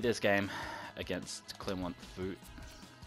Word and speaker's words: Foot: game against clin want food i'm pretty sure it's pronounced food they are French Ligue